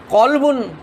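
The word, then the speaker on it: قلب: আপনাদেরকে আরেকবার রিপিট করছি আপনার কলবুন মানে আমরা অন্তর জানি কলবুন মানে অন্তর আবার কালবুন একটুখানি পার্থক্য হয়ে গেল মানে কুকুর হয়ে যায় তাহলে কলবুন আর কালবুন এই সামান্য একটুখানি উচ্চারণের পার্থক্য যদি এত বড় পার্থক্য হয়ে যায় তাহলে একটু চিন্তা করে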